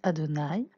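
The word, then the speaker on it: אֲדֹנָי: adonaï qui le tétragramme c'est ça s'écrit your dream avait ça se prononce adonaï c'est le nom de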